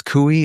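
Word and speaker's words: Coie: which is called Perkins Kooi. It's spelled like Koi I guess C O I E.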